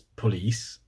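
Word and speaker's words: polis: Granted, it's pronounced like police in Swedish, it's police, which is almost exactly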